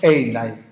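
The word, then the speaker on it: εἶναι: Ser, en griego se dice, el infinitivo es einai.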